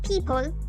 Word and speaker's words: people: Luego people, que significa personas o gente en general. Esta palabra puede ser un poco confusa por su escritura, pero así es como se la pronuncia. People.